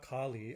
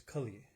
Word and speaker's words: Kali: So for starters, it's not Kali, as in goddess Kali. It's Kali, right? It's a short A, short I. Kali is a long A and a long I, right?